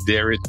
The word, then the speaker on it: Derrich: I'm the only one spelled with the H. It's Derrich, not Derrich.